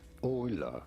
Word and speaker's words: Euler: How do you go about pronouncing this one? Euler.